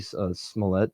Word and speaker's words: Smollett: Jesse Smollett.